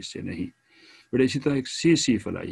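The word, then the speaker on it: tsetse: इसी तरह एक सी सी फ्लाई है, टी साइलेंट है बेटा, सी सी फ्लाई है ऑफ अफ्रीकन कंट्रीज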